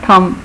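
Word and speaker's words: thumb: इसी तरह थम, जो अंगूठा है हाथ का उसको कहते हैं थम, इसमें बी साइलेंट है।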